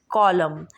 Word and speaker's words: column: तो first rule हमारे पास है, ये कुछ हमारे पास वर्ड है कि अगर एम एन से पहले हो, यानी N comes after M, सो N will be silent.